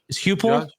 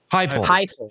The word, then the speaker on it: Heupel: Shake Hupel? Heupel.